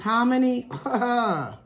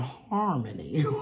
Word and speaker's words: hominy: But this hominy, before I knew how to pronounce it, I used to call it harmony, okay? Hispanic person said, no, hominy.